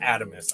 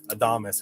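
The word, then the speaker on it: Adamas: adamus or adamus rather it is pronounced atomos i know everyone wanted to say adamus and i certainly did and then someone mentioned i think it was a big red in his saturday night he was like oh wait is that pronounced wrong uh sure enough right there then and there i googled it real quick and it's true it's atomos because it's a greek word um for i don't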